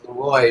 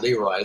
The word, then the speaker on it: Leroy: I will mention that I was friends with Leroy Anderson's son, who told me that he pronounced it Leroy, not Leroy.